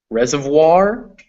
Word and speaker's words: reservoir: in boy or coin there are some french words in english where it's pronounced wah these always come before an r reservoir and noir are examples of this double o it is